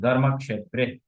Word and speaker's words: ধর্মক্ষেত্রে: তাই না, ছোটবেলায় আমরা ক্ষেত্রে ক্ষেত্রে পড়ে আসছি, কিন্তু যখন আপনি শিখছেন সংস্কৃতম, তখন আপনার উচ্চারণটা একটু চেঞ্জ হয়ে যাবে। তখন আপনি আর ধর্মক্ষেত্রে কুরুক্ষেত্রে বলবেন না, আপনি উচ্চারণ হয়ে যাবে ধর্মক্ষেত্রে কুরুক্ষেত্রে। হুম, ধর্মক্ষেত্রে কুরুক্ষেত্রে।